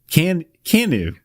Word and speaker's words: KANU: KANU. Just KANU. KANU. Like, can you do it?